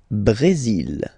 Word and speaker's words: Brésil: Le Brésil. Le Brésil. Okay, you will pronounce the final L here, and then remember accent aigu goes like E.